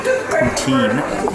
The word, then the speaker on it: poutine: So yeah, behold a very good Montreal poutine, or if you are Anglophone, you probably pronounce it poutine.